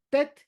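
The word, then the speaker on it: טית: Tet es con la lengua justamente en la parte del paladar.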